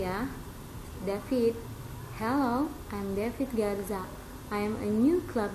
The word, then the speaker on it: Garza: Sorry, what's your last name again? Garcia. Actually, it's Garza. How do you spell that? G, A, R, Z, A.